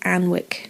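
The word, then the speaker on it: Alnwick: Battle of Anne Wick it's spelled a-l-n-w-i-c-k but I think it's Ann Wick and Wick Al olwick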